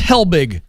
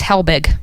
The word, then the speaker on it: Helbig: It's Helbig. It's Helbig. Helbig.